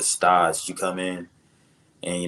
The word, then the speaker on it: stage: they call it stage it's spelled like stage but you know French pronunciation is they call it stage you come in and